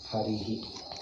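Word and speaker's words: हरिः: Okay, so Hari, if you add Visarga to Hari, how do you pronounce? Harihi.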